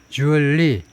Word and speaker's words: jewelry: jewelry 하면 우리나라의 걸그룹이었고 지금은 별로 살림들 하느라고 바쁘시지만 jewelry는 이거 우리식 발음이고 L 발음이 거의 나오지 않아요. 그래서 jewelry 정도로 발음하는데 미국식, 영국식 스펠링이 이렇게 다르고요.